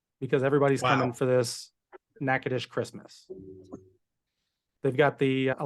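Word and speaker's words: Natchitoches: about nakadish this is how it's spelled but pronounced nakadish it's uh Steel Magnolias was filmed there they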